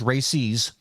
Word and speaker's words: RACES: RACES, and that's how it's spelled or how it's pronounced, RACES, is Radio Amateur Civil Emergency Service.